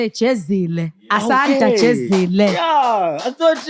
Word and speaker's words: Jezile: I say Jezile, but if we want to go back to SA, Jezile.